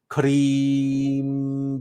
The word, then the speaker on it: Krim: But Krim, that first rolled R, that's as we can't do an elongated rolled R. But if you can roll your R's, then it's Krim, but you want to elongate that R.